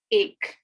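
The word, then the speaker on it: ایک: first number is one which is ache in urdu that's ache and you can pronounce that um as a i k or you can say e k so like any way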